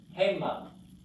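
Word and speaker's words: הֵמָּה: Hema. Hema. Forgot it, dagesh. Accent on the first syllable.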